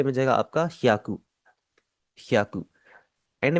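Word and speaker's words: 百: सबसे पहले सो को हम जैपनीज़ में कहते हैं हियाकू। पहले आपकी एच वाई ए की आवाज है या और उसके आगे कु है तो ये बन जाएगा आपका हियाकू याकू एंड में जो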